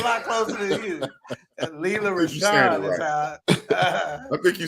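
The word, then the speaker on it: Rochon: Roselle. There's no L's in it. I know. It ain't no L. It's Rosha.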